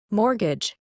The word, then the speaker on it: mortgage: This word is pronounced as mortgage.